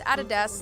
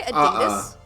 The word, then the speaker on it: Adidas: I just found out that Australians pronounce Adidas like added ass. Do you say Adidas? Adidas.